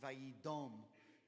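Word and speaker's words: וַיִּדֹּם: Now, the grammar changes it to be pronounced Vayidom, but the word is dam.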